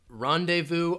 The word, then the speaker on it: rendezvous: So I'm hearing Manati says pronunciation rendezvous. rendezvous, rendezvous, rendezvous. So this is a French word. You're not going to hear that Z sound at all. Rendezvous. So again, that VOUS, rendezvous. We're going to rendezvous around 2 p.m.